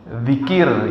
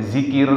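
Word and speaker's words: ذكر: kita memudahkan ya memudahkan zikir itu pakai zal dal. Tapi di bahasa Indonesia kadang-kadang orang pakai zikir dipakai zat ya itu zai. Tapi sebenarnya itu adalah zal zikir begitu ya dalam bahasa Arabnya.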